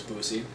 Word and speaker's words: Boosie: ophthalmologist and first off her name is Boosie and it rhymes with Saint Lucy who was the patient